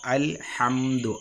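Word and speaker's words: الْحَمْدُ: തന്നെ ഇവിടെ നമ്മൾ ശ്രദ്ധിക്കേണ്ടത് അൽ ഹംദു അൽ എന്ന് കഴിഞ്ഞിട്ട് ഹാ എന്നുണ്ട് നമ്മൾ പെട്ടെന്ന് നമ്മൾ ഖുർആൻ ഓതുന്ന സമയത്ത് അൽഹംദുലില്ലാഹി എന്ന് പറയുമ്പോൾ ഈ ഹാ ന്റെ ഉച്ചാരണം അവിടെ വരില്ല അൽഹംദു എന്നുള്ളിടത്ത് എവിടെ നമ്മൾ ഖുർആൻ ഓതുകയാണെങ്കിലും ഫാത്തിഹ ഓതുന്ന സമയത്ത് അൽ ഹാ അൽ ഹാ എന്നുള്ള ഉച്ചാരണം കൃത്യമായിട്ട് നമ്മൾ ശ്രദ്ധിക്കണം അതുപോലെതന്നെ റബ്ബിൽ ആലമീൻ റബ്ബിൽ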